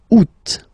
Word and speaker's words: août: And then here, two options, because, well, two options are acceptable in French. The first one, you don't pronounce the final T. Ou. Second one, you pronounce it août, août, août.